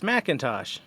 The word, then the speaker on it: McIntosh: No, it's McIntosh.